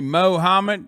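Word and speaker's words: Muhammad: god damn you look like you say mohammed yeah well that's right that is how you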